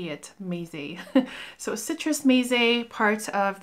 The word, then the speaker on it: Meze: Thank you to the person who taught me how to say it, Meze.